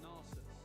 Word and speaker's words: Nasus: Yeah, is it Nasus or is it Narsus? I say Narsus. I say Nasus. I usually pronounce things a little bit wrongly, so.